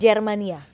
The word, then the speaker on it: Germania: Germania bacanya. Germania.